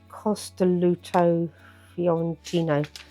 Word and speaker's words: Costoluto Fiorentino: Costoluto Fiorentino. That's how you pronounce it.